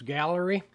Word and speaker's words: Gaahleri: layout well Amazon had a deal on this Gallery they spell it funny uh g h a D- 68